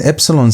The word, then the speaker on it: epsilon: And epsilon sounds like the English e. E as in it as in the word it as in the word end. That e is equivalent to epsilon.